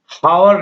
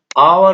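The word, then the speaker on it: hour: आप देख सकते हैं हमारा उदाहरण में, जैसे मैंने लिखा हावर नहीं होगा, यहाँ पर आवर होगा, क्योंकि एच के बाद यहाँ पर वोवेल है, यानी एच के बाद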